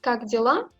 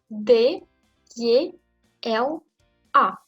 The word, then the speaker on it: Как дела: On ne prononce pas dela, on ne prononce pas dila. C'est la lettre, c'est quelque chose moyen entre Y et I. Как дела. Et assez vite. Prononcez assez vite. Как дела. Et l'accent tombe sur A.